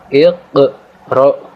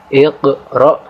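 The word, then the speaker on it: اقْرَأْ: dengan pantulan tipis, yaitu huruf qaf sukun di sini kita baca dengan cara menekan kemudian sedikit memantul. Maka ini contoh bacaan qalqalah sughra. Maka saya ulangi cara membacanya yaitu iqra bismi rabbik, ya.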